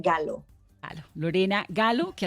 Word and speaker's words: Gallo: gallo bueno mi apellido es italiano entonces es galo en claro en latino américa yo estoy muy orgullosa de ser latina américa pero también estoy muy orgullosa de tener mi herencia italiana entonces se pronuncian galo a la morena galo